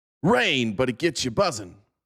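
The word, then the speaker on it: Reign: Rain, but it gets you buzzing.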